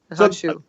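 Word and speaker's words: Han Xu: Okay, help me with the pronunciation. Xiao Ting? Yeah, Xiao Ting. Yep, and Hanshu. Hanshu.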